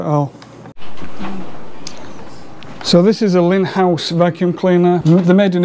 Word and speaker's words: Lindhaus: and that's two in-house i know how sometimes pronounce these linhars but it's pronounced lin house that's okay i can get away with it